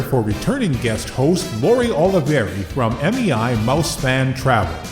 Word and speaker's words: Olivieri: today is a returning guest host uh Lori Oliveri that pronounce it right yes that's right that one